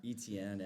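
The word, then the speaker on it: Etienne: You say Etney is how you say his name?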